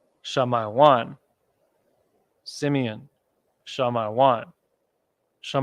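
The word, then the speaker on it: שמעון: the so-called Dominicans so in the pronunciation of Simeon and the ancient Hebrew is uh I don't need to put capital on here Sha my one shall my one Simeon shall my one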